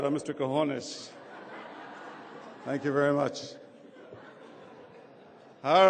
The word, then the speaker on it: Quiñones: at a Latino scholarship dinner would someone say Kon is the way it should be pronounced I've been called everything else the other